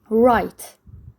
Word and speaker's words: write: Write, W is silent.